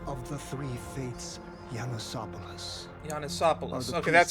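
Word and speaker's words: Janusopolis: Janisopolis. Okay, that's how you pronounce it.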